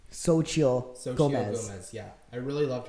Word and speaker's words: Xochitl: But I really did love, we just learned how to pronounce her name. Xochitl Gomez.